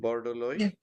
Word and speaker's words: Borodoli: I hope I pronounce it correctly. Yeah. Borodoli, yes.